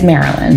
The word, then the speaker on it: Marylyn: It's Marilyn. Marilyn. You pronounced it correctly.